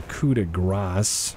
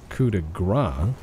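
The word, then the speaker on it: coup de grâce: give your do your kuda grass because kudegra is not what you think it is if you've been saying coup de gras you've been saying it wrong don't worry i only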